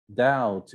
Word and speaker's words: doubt: don't speak the age doubt you don't speak the b foreign you don't speak